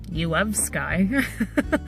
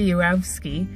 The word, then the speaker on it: Yourofsky: came across Gary Yourofsky when I first saw his last name, because it's spelled U-of-O-F, Sky, and I was like, you of Sky? And then I heard some people say it in their videos. I was like, oh, duh. So Gary Yourofsky, he's a huge animal rights activist.